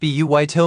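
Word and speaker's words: バイト: The Japanese word baito pronounced buito means part-time job and is adapted from which language?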